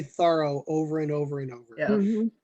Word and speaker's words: Thoreau: early but you know my mom is 86 and even she says thorough now so you know if